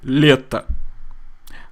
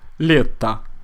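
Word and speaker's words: лето: here is stressed so leta however because the letter O is unstressed we pronounce it more like ah leta leta ocean ocean means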